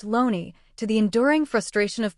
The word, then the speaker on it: Looney: Thomas Looney, a name pronounced Loney, to the enduring frustration